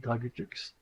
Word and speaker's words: Dragutux: You pronounce it like Dragutux. In English, you will have less problem, Dragutax, you know.